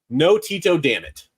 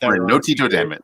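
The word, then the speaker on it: Antetokounmpo: pronounce giannis's last name it is clearly no Tito Dam it that's how you pronounce it okay no Tito Dam it I got it no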